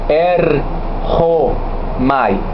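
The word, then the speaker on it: ἔρχομαι: Se pronuncia erchomai.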